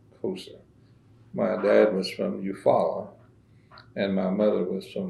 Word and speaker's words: Eufaula: But my dad, he was of the Raccoon clan, and he was of the Eufaula Canadian tribal town. That's how you pronounce it in English.